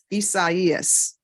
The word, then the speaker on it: Isaias: welcome and Mr gar how do you pronounce your first name isas all right so the deputies I think you all got that wrong and you were letting me pronounce it incorrectly Isaias okay all right thank